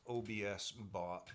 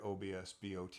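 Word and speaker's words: OBSBOT: Again, it's by OBS BOT, which I guess is pronounced OBS bot.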